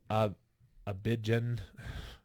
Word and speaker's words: Abidjan: A court fined the host and ordered him not to leave Abidjan. Say that for me. Abidjan? Abidjan. Oh, yeah, I was saying it right.